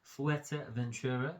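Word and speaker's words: Fuerteventura: we had our honeymoon fua Ventura is how they say it f Ventura fua Ventura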